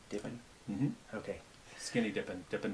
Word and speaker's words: Dippen: dippin how are you sir good thank you do I say your last name correctly divin mm-hmm okay skinny dipping dipping does okay I